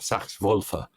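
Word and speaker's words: Sachs–Wolfe: integrated sax wolf effect or sax wolfa is probably how you should pronounce it but we call it sax wolf uh so check that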